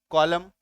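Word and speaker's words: column: और क्या हो जाएगा उच्चारण? ये देखो, सी ओ एल यू एम, कॉलम, यानी कि कतार।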